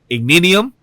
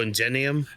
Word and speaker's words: Ingenium: It was to see Igninium. I believe I'm pronouncing. Oh, Ingenium. Yeah, Ingenium. Thank you.